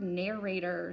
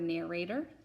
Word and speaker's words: narrator: word is the word narrator say the word narrator great narrator notice that it has an o r at the very end not an e r a lot of kids think it's er let's spell it now